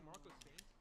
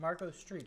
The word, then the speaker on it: Marco ST: Did I just say Marco Saint? Thank you. Thanks for being a Yonko tier member. Marco Street. It's actually pronounced street.